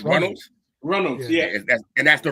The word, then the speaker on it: Runnels: Then we got how do you actually pronounce their last name? The Runless? The Runless? Runnels? The Runnels. Yeah, okay, it's Runnels.